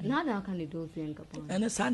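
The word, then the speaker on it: Dolce & Gabbana: Dozy and Gabani. Yeah, the way you pronounce this.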